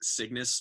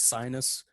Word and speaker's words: Cygnus: point out that the way you pronounced Cygnus made me think you said, like, Chungus. Oh, that's funny. So now I'm just imagining it being Vismund, Chungus, Vismund. I thought it was Sinus, but I like Chungus better.